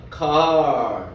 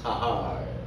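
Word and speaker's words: קהל: 카할. 예, 저보다 여러분들이 발음이 더 좋으시네. 카할.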